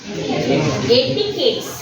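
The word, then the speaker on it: etiquette: எட்டிகேட்ஸ். சே ENTIQUETTE. ஆனால் அதை நம்ம எப்படி ப்ரொனவுன்ஸ் பண்ணணும்? எட்டிகேட்ஸ். எப்படி சொல்லணும்? அந்த அந்த கியூ இடத்துல சொல்லிட்டு கேட்ஸ், எட்டிகேட்ஸ் அப்படிதான் அதை ப்ரொனவுன்ஸ் பண்ணணும்.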